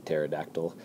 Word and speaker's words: pterodactyl: The P is silent, like in pterodactyl.